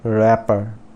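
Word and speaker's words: wrapper: फिर रैपर, रैपर, तो यहाँ पर कौन सा लेटर साइलेंट है, रैपर W, और यहाँ पर जो एक P है वो साइलेंट है, तो हम इसको प्रोनाउंस करेंगे RAPER, तो रैपर।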